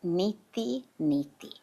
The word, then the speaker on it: neti neti: So a beautiful practice to just really bring this home is a practice called neti neti. And it's spelled it's a Sanskrit word of course, but you can think of it as n e t i neti neti.